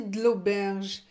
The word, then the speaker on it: de l'auberge: On n'est pas sorti de l'auberge. De l'auberge. Vous avez vu comment je prononce? Je ne prononce pas le E.